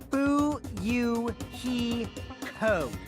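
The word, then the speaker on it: Fuyuhiko: My first name is pronounced boo he co.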